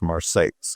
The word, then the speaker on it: Marseilles: Marseilles, Illinois, it's spelled exactly like Marseille, France, but it's in central Illinois, so it's pronounced Marseilles.